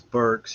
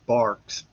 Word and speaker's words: Burks: I got in this uh one time teaching first second day and u talking about names and pronunciations and stuff. And so my last name is Burks.